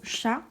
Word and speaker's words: chat: Exemple, le mot chat, la lettre T, on ne la prononce pas.